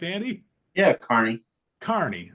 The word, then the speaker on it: Kearney: Yeah, Kearney. Kearney. Sorry, I always want to put that extra because it's spelled, right? E. Yeah, I want to put the E.